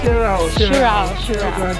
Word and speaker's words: Sirao: We're at Sirao? How do you say it? Sirao.